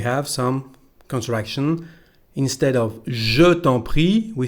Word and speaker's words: je t'en prie: So, je t'en prie as tant. We pronounce that like one word.